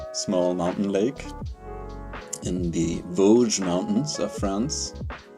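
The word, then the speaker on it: Vosges: So, um, tonight I've got a sample coming from a small mountain lake in the Vogge Mountains of France. It's a terrible name. Voj.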